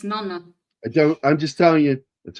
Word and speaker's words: Nonna: It has 2 N. It's Nonna.